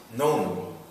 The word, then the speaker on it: None: it means is and how it's pronounced is known like own if I will write